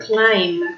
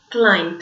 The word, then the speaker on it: climb: in a B but this B is a silent letter we don't pronounce it so very careful with this because the realization so is not flying its climb okay climb by monk llama right